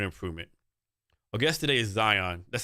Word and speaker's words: Zhang: Our guest today is Zhang.